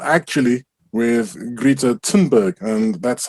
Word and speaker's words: Thunberg: my gripe with is not actually with greta tinberg and that's how you pronounce her name it is with the people